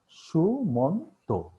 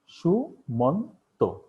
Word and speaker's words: সুমন্ত: এই শব্দটাকে আমরা 3বারে উচ্চারণ করছি, সুমন্ত। আমরা দ্রুত উচ্চারণ করছি বলে বিষয়টা হয়তো খেয়াল করতে পারি না, কিন্তু এখানে 3বার আছে, সুমন্ত। তাহলে এই 3 প্রয়াসে বা 3বারে যে উচ্চারণ করছি, এই এখানে 3টি অক্ষর বিদ্যমান।